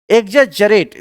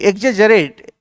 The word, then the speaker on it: exaggerate: एग्जेजरेट, देखिए इसको उच्चारण, इसका प्रोनाउंसिएशन सही क्या कीजिए, EXA डबल जी नहीं, इसको जी जी पढ़ा जाता है, EXAGGERATE, एग्जेजरेट मतलब किसी चीज को बढ़ा चढ़ाकर कहना, यानी अतिशयोक्ति।